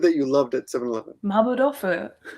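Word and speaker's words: マーボー豆腐: You said it correctly now. Oh, good. How did she say it in the video? I know she said it wrong. Saying mapo dofu or something. And I'm like, and I asked my wife, I said, in Korea, that would be correct.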